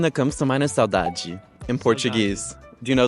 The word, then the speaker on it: saudade: Saudade. Saudade.